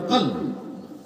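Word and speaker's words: قلب: মানুষের কলব মানুষের কলব আমরা যেটা কলব বলি আরবি বিশুদ্ধ উচ্চারণ কলব কলব আর জিহ্বা এই দুইটা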